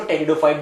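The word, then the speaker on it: Pteridophytes: पर लिखा है पीछे और फिर लिखित टेरिडोफाइट्स या f-35 जो यह साइलेंट है इसलिए इसको टेरिडोफाइट्स बोला जाता है तुम्हें बेल के पत्तों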